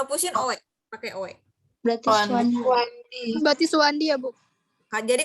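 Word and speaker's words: Soewandi: Makan Swewandi ya, Bu? Iya. Jadi gini, Suwandi bacanya ya, walaupun tulisannya Owe.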